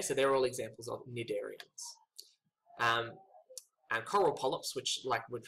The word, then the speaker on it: cnidarians: We now have the cnidarians. Now that C is silent because it comes from the Greek word to sting, because the members of this group often have stinging capabilities.